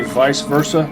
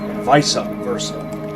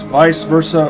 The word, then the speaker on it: vice versa: It's fine to say vice versa. Just don't say visa versa. It's vice versa or vay versa.